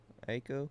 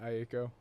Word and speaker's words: Aiko: Aiko? Yeah, Aiko.